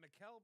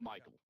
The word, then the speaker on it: Mikel: is it Mikel Brown Jr. or is it Michael? It's Michael. Oh, it is Michael. It's just spelled like that.